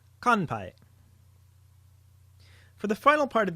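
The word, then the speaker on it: 乾杯: Here's what it sounds like: And in context, here is the word for cheers in Japanese, which uses the nasal sound: kanpai.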